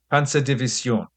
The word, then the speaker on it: Panzerdivision: It should be pronounced as nasally as possible, with a soft S and the stress on the final syllable, Panzerdivision.